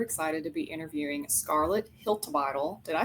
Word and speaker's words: Hiltibidal: I'm your host and today I'm super excited to be interviewing Scarlet Hiltle.